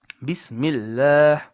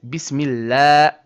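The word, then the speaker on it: بسم الله: So, this ha comes from the bottom throat as we discussed in point number three.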